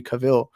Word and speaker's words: Cavill: i still would want uh my boy henry cavill or cavill i always mispronounce that like i always get clowned on